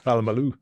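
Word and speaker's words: Polamalu: Palamalu.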